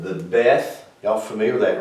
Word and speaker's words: beth: this is called the beth y'all familiar with that right everybody just much familiar with the death it's pronounced with the b or a v like is in like in betty or victor so that's how it's